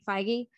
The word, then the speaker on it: Feige: Feige.